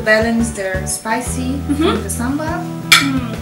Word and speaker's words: sambal: Okay, this is kind of like the chili paste, but in Malaysia we call it sambal. Sambal. Yes. Is that okay? Sambal. Yeah. Okay. Yes, perfect pronunciation.